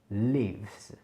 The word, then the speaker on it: leaves: Et les feuilles, en anglais, ça se dit leaves. Leaves. Ok? Attention, c'est un I long.